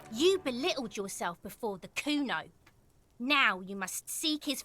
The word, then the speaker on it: Kuno: It's Kuno. Say it right. Said you're pretty lame or name. Nowhere near Kuno. The thought crosses your mind and then it's gone.